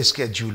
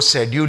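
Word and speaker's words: schedule: कुछ लोग अपने अमेरिकन स्टाइल दर्शाने के लिए इसको स्केड्यूल बोलते हैं. एनीवे, अगर कोई स्केड्यूल बोल रहा था वो समझ जाइए वो शेड्यूल ही कहना चाह रहे हैं. सो लेट us have a look at द शेड्यूल और स्केड्यूल. दो बोथ आर करेक्ट, लेकिन हमें ब्रिटिश इंग्लिश के हिसाब से शेड्यूल बोलना चाहिए.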